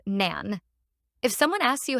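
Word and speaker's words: 何: how to start but in Japanese we use what instead of how and pronounce as Nan if someone asks you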